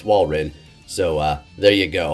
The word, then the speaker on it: Walrein: correctly for some reason i was saying whale wren when it's walrin so uh there you